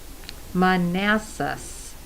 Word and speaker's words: Manassas: looks very stylish yes manassas virginia that's how it's pronounced okay okay you think